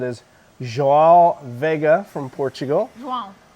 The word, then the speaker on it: João: João. Joao, gotta say it right.